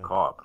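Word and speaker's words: Boccob: Bacab, right? Please say it. That's how you pronounce it.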